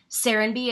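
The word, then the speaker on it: Serenbe: Serenby, it's spelled S-E-R-E-N-B-E.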